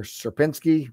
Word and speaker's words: Sierpinski: So there, if you need to listen to the correct pronunciation, you can click there and hear Sierpinski, but that's the pronunciation.